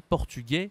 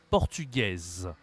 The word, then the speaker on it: portugaise: elle est française d'accord portugais hein tu as vu la nationalité portugais le féminin c'est portugaise portugaise comme tu peux le voir la prononciation est différente portugais portugaise français française on a